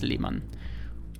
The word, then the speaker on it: Lehmann: In German it's Lehmann.